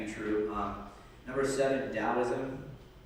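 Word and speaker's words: Taoism: true um number seven dosm it's pronounced with a D sound even though it has a t that's like a Japanese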